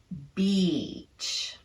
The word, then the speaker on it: beach: same three principles to the second word Beach on the vowel the tongue is kept high and tense maintaining contact with the molars and the duration of the vowel is lengthened Beach so that brings us